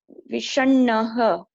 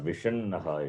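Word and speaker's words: विषण्णः: Then read now. Vishanah. Vishannaha it is.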